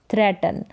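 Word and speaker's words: threaten: तो THR साथ में हो गया त्र, THR का साथ में ही उच्चारण त्र, तो थ्रे बन गया, क्योंकि EA का उच्चारण ए है। थ्रे और टन, TEN। अब ऐसे ही होता TEN तो इसको टैन बोलते, लेकिन इसके साथ है तो टन करके इसका उच्चारण होगा थ्रेटन।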